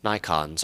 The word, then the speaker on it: Nikon: We do not use Nikons, or as it might be pronounced in Japanese, Nikon.